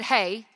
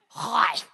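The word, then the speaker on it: חי: is ha a y it's not said hey it's hi I know this because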